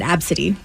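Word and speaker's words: Abcde: spelled it though no she spelled it a b c d e that is kind of fun yeah but she pronounces it absidy these are really sweet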